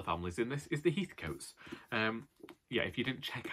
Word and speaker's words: Heathcote: And she's sending this to me because one of the families in this is the Heathcotes.